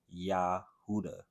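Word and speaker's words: יהודה: Jew comes from but when you pronounce it in Hebrew you could hear the name of God in it Yahweh yahuda so when these black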